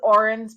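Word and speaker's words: Odhran: into talking about Mafia stalker and this is orin's book in the series and o d h r an it's pronounced Orin and it is a traditional Irish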